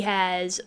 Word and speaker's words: Aech: obsessed Gunter and he has other friends that are Gunter's mainly one waffle embarrassed he has one main friend who is a Gunter and his name is H spelled aech but pronounced H and they they their